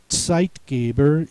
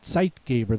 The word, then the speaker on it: Zeitgeber: The rest of the words have TZ sound at the beginning of the word. In that case, the sound is spelled with the letter Z. Zeitgeber is a compound word.